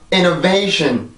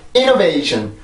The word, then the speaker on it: innovation: 자, 요렇게 발음을 해주는데, 어떤 학생들에게 요 발음을 시켜보면, innovation, innovation, innovation. 이렇게 만드는 경우가 많아요. 그냥 이렇게 리듬을 타는 게 아니라 쭉 그냥 강세만 처음에 주고 쭉 떨어뜨리는 경우가 많은데, 내가 요렇게 하나하나 분석을 해보면, 요렇게 되어 있지 않죠.